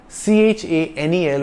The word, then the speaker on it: Chanel: English word channel it's c-h-a-n-e-l with a single n and it's pronounced Chanel because CH is pronounced like sh in French Chanel is a French